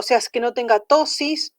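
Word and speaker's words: ptosis: Reflejo palpebral y fotomotor, o sea, es que no tenga tosis. Tosis se escribe con P, tosis, que no tenga el párpado caído, porque eso es una...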